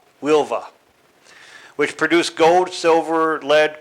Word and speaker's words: Huelva: Tinto, which is about 70 kilometers inland from Huelva. It's spelled Huelva, but it's pronounced Huelva, which produced gold, silver, lead, copper, zinc, and